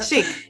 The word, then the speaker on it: Chic: I want to pronounce it correctly. Yeah, exactly like that. Yeah. Chic.